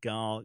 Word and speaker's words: Gal: Yeah, well, as I said Gil, I said, no, Gil's a male name. Gal, yeah.